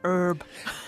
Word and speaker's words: herb: And yes, that's spelt E-R-B, and it doesn't have a dropped letter H, unlike the word that we call herb in New Zealand, but which Americans pronounce as herb.